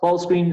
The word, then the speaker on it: ball screen: comunes: handoff, close out, ball screen, spot up, box out, me falta una coma ahí, mismatch, que es otra palabra. Siempre la sílaba tónica es la primera.